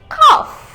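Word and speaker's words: cough: সি ও ইউ জি এইচ বাট তুমি উচ্চারণ করবে কিভাবে প্রোনাউন্স করবে এভাবে কফ কাশি কাশি এর ইংরেজি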